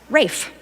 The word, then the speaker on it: Ralph: which made it RAF, Rafe. In the 16th century, the current RALPH spelling became common. However, the British continued to pronounce it in the Old English way, Rafe.